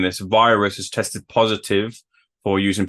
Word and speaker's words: Viruzz: I mean first off it's pronounced you know because you know in Spanish so your V is pronounced like a b and then he's got